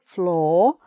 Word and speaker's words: flaw: And a floor with a W, but no sound of a W, floor.